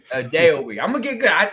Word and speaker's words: Adeoye: how do you pronounce the last name? A day a week. A day a week.